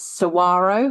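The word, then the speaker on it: Saguaro: So, it's Sarro, which I have now learned how to pronounce properly, canyon, Apache, and Roosevelt.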